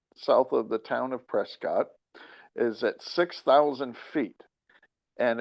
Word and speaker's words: Prescott: Now, it is an intentional malapropism. So that means it's not Prescott. For some reason, it's a college town and they mispronounce it on purpose.